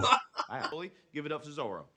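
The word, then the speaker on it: Zoreaux: Give it up to Zorro. Oh, it's pronounced Zorro. I'm sorry. It's French. Zorro.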